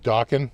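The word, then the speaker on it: Dokken: We went to go see Monsters of Rock with Dawkin, rhymes with Rockin'.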